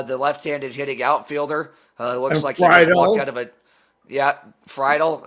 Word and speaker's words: Friedl: left-handed hitting outfielder yeah freidal uh TJ friedl uh you said it right there and they had the